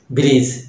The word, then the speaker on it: bridge: Knowledge, knowledge মানে জ্ঞান, wisdom, প্রজ্ঞা যেটা বলা হয়, নলেজ, ব্রিজ, এক্ষেত্রে ডি এর কিন্তু উচ্চারণ নাই।